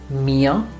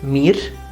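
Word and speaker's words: mir: know the personal pronouns mia you don't say meer you say mia similarly you don't say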